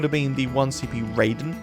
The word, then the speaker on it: Raiden: been the one CP Raiden or Ryden I pronounce it which deals 1000 damage